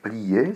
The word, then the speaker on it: plie: mange si c'était avec plier sa s'écrirait je plie avec un peu qui est muet mais qui est obligatoire car plié est un